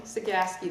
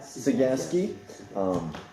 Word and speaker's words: Cegavske: Cegavske, the V is silent. Cegavske.